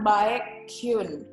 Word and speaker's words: Baekhyun: Mungkin ada yang udah pada paham banget gimana cara bacanya pengucapan Baekhyun ini, tapi ada juga nih kita masih dengar mereka yang menyebut Baekhyun atau bahkan Baekhyun sesuai dengan cara menulisnya. Padahal cara bacanya Baekhyun.